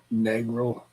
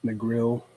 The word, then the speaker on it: Negril: vacation SP spots was in negro hopefully I'm pronouncing that correctly Negril Negril oh Negril I've heard of that yeah I